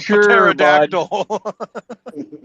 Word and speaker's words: pterodactyl: It's a pterodactyl. Why did we put a P in the name of that?